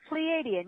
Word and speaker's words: Pleiadian: Okay, now was that pronunciation correct? Pleiadian, yes.